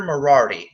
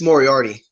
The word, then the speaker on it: Moriarty: See, Poffo and his friend Peter Moriarty. Is that how his name is said? I think it's Moriarty. Moriarty. Okay, yeah, I said it right the first time.